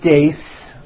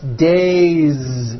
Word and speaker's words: days: day or two days it's not days on voice it's days with a vo Z ending next one Shu